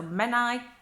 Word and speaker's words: Menai: she crosses is the Menai bridge men nice oh the AI is pronounced just as an I so men I and the word that